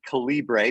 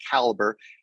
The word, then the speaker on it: Calibre: But people can find our website at, a lot of people say Calibre, but it's actually, we pronounce it Caliber.